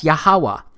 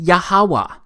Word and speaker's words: Yahuwah: simple back then that it vocalized each consonant with an AA sound without specifically marking that sound between consonants so this yhw H it's pronounced yahuwah it also turns out